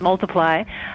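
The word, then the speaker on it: ×: released this year it's it looks like an x but it's pronounced multiply um oh really i didn't know that i saw the x i had no idea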